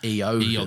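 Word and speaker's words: Eoghan: the Irish Owen is technically pronounced, or should be pronounced, Eogan.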